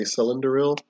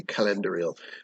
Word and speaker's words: Celendoril: of world building uh a lot of outsiders particularly humans would probably say cylindrial because that even kind of sounds elvish as well or she uh but it is technically calendurial i based it on the uh the hard see a celtic heart see which i i personally